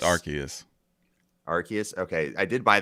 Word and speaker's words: Arceus: It's Arceus.